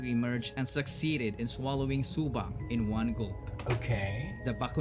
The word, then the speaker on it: Subang: In Iloilo, when you say Subang, it's actually not pronounced as Subang, it's pronounced as Subang, with a stress on the second syllable.